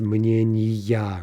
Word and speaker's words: мнения: Now, this is a special soft neuter, and those will never change their stress, right?